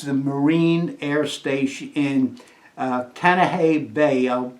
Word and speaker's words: Kaneohe: This is the Marine Air Station in Kaneohe Bay. I'll spell that because my pronunciation may be off. Kancoha.